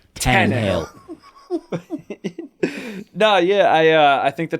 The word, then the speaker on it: Tannehill: Tannehill. It sounded like you were like put an exclamation point. Tannehill. Cojito. Cojitos. He said Screw you he guys. looked directly at you and he was like, Tannehill.